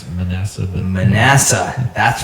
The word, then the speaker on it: Manasseh: Manasseh. I pronounce it Manasseh, but Manasseh, that's right.